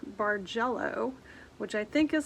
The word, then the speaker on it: Bargello: If you Google landscape quilt or Google something called Bargello, which I think is spelled B-A-R-G-E-L-L-O, you'll see kind of what you